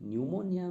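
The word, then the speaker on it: pneumonia: pronunciation नहीं करते हैं जैसे की निमोनिया में हम पी का प्रनंसीएशन नहीं कर रहे साइकोलॉजी में हम टीका प्रनंसीएशन नहीं कर रहे हैं तो दोनों जो वर्ड है उसमें पी साइलेंट लेटर है इसलिए ऑप्शन साइलेंट लेटर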